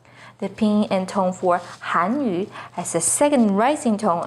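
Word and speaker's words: 汉语: The pinyin and tone for Hanyu is with the fourth falling tone on Han, Hanyu. The pinyin and tone for Hanyu has a second rising tone on Han, Hanyu.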